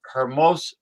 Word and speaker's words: hermoso: Like handsome is it's spelled hermoso. Hysterical. Hermoso. Right. Yeah. Exactly. Yeah. But they don't pronounce the H.